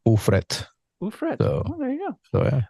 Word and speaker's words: Ufret: Puerto Rico the my my last name is Dutch and we just pronounce it in Spanish ettr there you go so